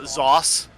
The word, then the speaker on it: Zos: want to notice that my name is spelled uh zos like sauce so on the contract